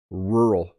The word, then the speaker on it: rural: say English word rural so listen how I say it rural I almost don't say the two syllables by the way rural